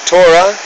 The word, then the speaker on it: Torah: revealed the tat inil the Torah or as we pronounce in English Torah and the inil meaning